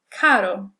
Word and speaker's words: caro: We'll say this word, butter, and then compare it to the sound in the word caro. Butter, caro. Your tongue is going the exact same place in your mouth, and you're producing the same sound.